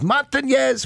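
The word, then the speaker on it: Montañez: And I'm on the field the next day going over some pronunciations. And Willie Montanez walks behind me and he says, Montanez, Montanez.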